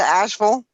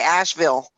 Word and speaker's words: Asheville: that right where to Asheville you said it right I know I'm like yeah because you usually say people say Asheville asked me you know but it's actually actually like Louisville yeah you know you